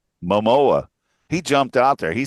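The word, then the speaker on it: Momoa: Perhaps one of the most unexpected moments was when Panta came out and then host J Mano, how do you say that? Mamoa. Mamoa.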